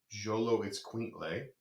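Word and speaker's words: Xoloitzcuintle: It's pronounced Jolo Itzcuintle.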